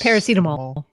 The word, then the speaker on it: paracetamol: Yes, paracetamol. Paracetamol is how it's pronounced.